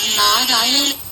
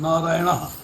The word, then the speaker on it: नारायण: pronounce करें नारायण को नारायण में भी जो न है वो कृष्ण वाला न है हां बस वही कर